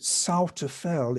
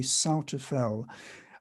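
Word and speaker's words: Souther Fell: the lake district and i think the locals may pronounce it souta fell it looks like suterfeld it depends on where you come from but i think this the the pronunciation may be souter fell um it's it's just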